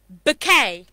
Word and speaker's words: bouquet: 99.9 endless nines and percent people pronounce it wrong okay so this word is actually bouquet okay can you tell